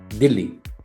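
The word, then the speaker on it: Dili: नाउ इसका capital बड़ा interesting है क्योंकि इंडिया का भी कैपिटल का प्रोनाउंसिएशन ऑलमोस्ट यही है, और ईस्ट टिमोर का कैपिटल है दिल्ली।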